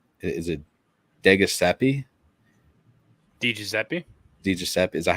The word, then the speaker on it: DiGiuseppe: It's DiGiuseppe, yeah. He was a Ranger, right, Aaron? Maybe for a little bit. Is it Philip DiGiuseppe?